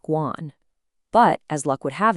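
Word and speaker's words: 官: character here, is pronounced guan. But as luck would have it, a completely different character, the second one, which means government official, is pronounced the exact same way, Guan.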